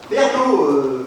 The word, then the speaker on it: Pernod: Pernaut, comme Ricard. Odé à la fin comme Ricard. J'ai pas bac, mais là t'essaies de nous baiser. Baiser. Oh, lâche-moi un peu, bebeu. En fait, ça s'écrit P-E-R-N-O-D.